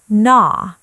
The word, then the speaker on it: gnaw: Pronunciation, gnaw. The G is silent.